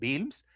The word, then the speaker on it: Wilms: Produce grandes masas dolorosas, se llama tumor de Wilms, se escribe Wilms, pero se pronuncia Wilms, un pedacito de riñón y la mayor parte era tumor.